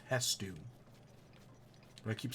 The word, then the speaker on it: Hestu: to go back to headsu or yeah I kept saying it wrong I think his name is actually hestu I kept pronouncing it